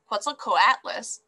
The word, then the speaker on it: Quetzalcoatlus: same area right well how did the quetzilco atlas get its name so it's pronounced quetzalcoatlus and their name comes